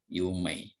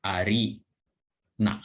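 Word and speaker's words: 有名: Tapi dibacanya menjadi yumei, bukan ari na, bukan arina, tapi yumei.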